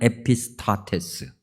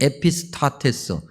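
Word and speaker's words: ἐπιστάτης: 선생님 이라고 번역된다 나요 헬라어로 얘기하면 에피 스타 테스 호칭 선생님하고 부르는 거니까 예비 스타 파워 그렇게 발음하는 건데 2 에피 스타 테스 발음이 잘 안되지만 오늘 우리는 이걸 헬라어 발음으로 기억해야 해요 2막 이 단어의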